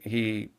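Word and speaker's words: Eash: parish there was a delightful old couple that had a slightly unusual name their last name was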